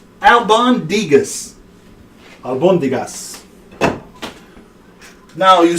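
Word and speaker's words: albóndigas: Pronounce the dish. Albus Dumbledore, albacore tuna. It's called Albondigas. Albondigas.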